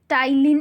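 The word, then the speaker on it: ptyalin: साथ में सलाइवा में एक एंजाइम प्रेजेंट होता है जिसको क्या बोलते हैं हम, टाइलिन एंजाइम। ठीक है, टाइलिन एंजाइम, पी साइलेंट होता है यहाँ पे।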